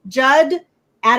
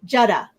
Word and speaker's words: Judda: So the way that you guys can remember how to say his name now, just remember, like the Judds, the singing mother-daughter group, the Judds, Judd, add an A, Judda. Judd, Judda.